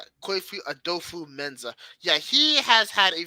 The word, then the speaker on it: Kwesi Adofo-Mensah: I cannot pronounce his last name. Could you say it for us again? Kwesi Adofo-Mensah. Kwefi Adofo-Mensah.